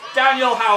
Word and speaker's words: Daniel Howell: Phil - His name rhymes with 'Spaniel Towel' (Phil laughs) (drumroll) It's Daniel Howell!